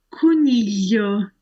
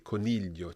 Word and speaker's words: coniglio: So we've got paglia, teglia, maglie, coniglio, ciglia. Each time we're hearing that same y sound in there.